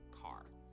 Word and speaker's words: char: Chars. So, chars are used for variables that will store single characters. Char, short for character. And sometimes you might hear people pronounce it as car.